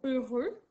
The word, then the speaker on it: heureux: nous avons le mot heureux au masculin être heureux c'est être content être joyeux le mot 1re s'écrit avec un h au début qui est venu mais que tu n'entends pas ensuite le sont heureux